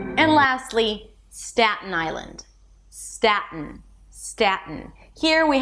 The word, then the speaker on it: Staten: Staten. Staten. Or staten. When I release it through the nose. Staten. Do whatever is easier for you.